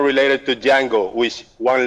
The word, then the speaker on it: Django: So Django, the D is silent.